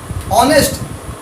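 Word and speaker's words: honest: ऑनेस्ट, ऑनेस्ट Hindi में लिख के देखो, ऑनेस्ट तो आ नेस्ट ऐसे लिखेंगे, तो आ ये जो है ना ये हिंदी का स्वर है।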